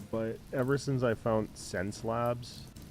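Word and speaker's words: Xencelabs: Okay, so it's spelled a little strange. Sense Lab. That's how you pronounce it. Or Sense Labs.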